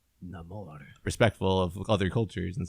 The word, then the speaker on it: Namor: call me Namor and he pronounces it like that Latin type of way no more and apparently everyone in wakanda calls him nemour through the whole movie and it's just like